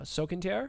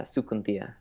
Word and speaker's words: Sukuntia: And then I am playing uh Sukantar? Did I pronounce that fairly close? Oh, it's it's it's hard as a uh Sukuntia. Sukuntia, okay.